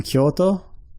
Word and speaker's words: Kyoto: So Kyo you might recognize from the city name Kyoto.